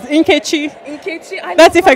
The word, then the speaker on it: Nkechi: Okay, I will say it correctly now because So I'm Nigerian as well, so I'm going to help you with your pronunciations. Nkechi.